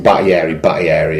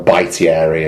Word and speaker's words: Battieri: It's refreshing to hear somebody pronouncing Battieri as well, by the way. I get so bored of hearing. I know there's an I in it, and they will go Baitieri, and Thank you for saying Jason Battieri.